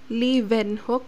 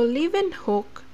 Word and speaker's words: Leeuwenhoek: in 1674 anton van leeuwenhoek so we pronounced w as v so anton van leeuwenhoek so leaving hook he made his own